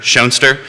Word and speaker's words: Schoenster: And if you've been driving around Fluvanna, you've probably seen my signs that say Nature, Nurture, Schoenster. It's not only a great way to help people pronounce my name correctly, which Jerry successfully managed, and Thank you.